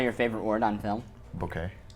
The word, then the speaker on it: bokeh: Bouquet. How do you pronounce that? According to Bucket. the Wikipedias and various pronunciation guides, it's bouquet, but every photographer in this room says bokeh.